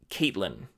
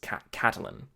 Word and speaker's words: Catelyn: a game of Thrones I was saying Catelyn whereas the name is Katalin I was saying Baratheon